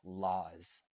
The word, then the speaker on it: law: the people who make laws and notice the pronunciation of law very simple pronunciation la like la cosa La Leche in English la about whether walking weather